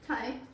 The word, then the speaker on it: thyme: Thai.